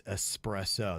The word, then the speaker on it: espresso: uh Nick said uh can you let Jaber know there's no X an espresso what what did I say espresso and it's espresso they're saying being an